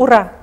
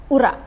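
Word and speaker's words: ура: The right pronunciation. I mean. Ura. Ura. Ura.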